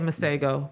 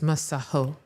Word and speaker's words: Masego: In his interviews and on tracks, he's been saying Masego. But we've been getting, like, he was like, oh, they're ignorant. They've been pronouncing it wrong. Yeah. It's a South African name. It's Masaho.